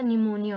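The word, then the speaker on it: pneumonia: इसमें जो P word होता है वो क्या है? आपका साइलेंट है, तो इसमें बच्चे बहुत ज़्यादा कंफ्यूज होते हैं, तो पी लिखना है ज़रूर।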